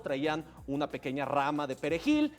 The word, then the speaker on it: perejil: Entonces, los soldados traían una pequeña rama de perejil y les decían, "A ver, ¿cómo se llama esto, señor? Y si hablabas español, podías pronunciar bien la J de Perejil.